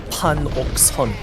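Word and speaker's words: 판옥선: How do you pronounce that? Panokson.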